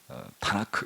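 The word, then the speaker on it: תנ״ך: 그래서 토라 할 때 T, 너비임 할 때 N, 그리고 케투빔 할 때 K. 그 합치면 타나크 이렇게 발음을 하는 거예요.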